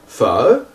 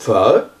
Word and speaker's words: phở: Alors le O avec la virgule, il se prononce comme un E, le E de heure, comme le A accent circonflexe. Un exemple, ça va être la soupe pho.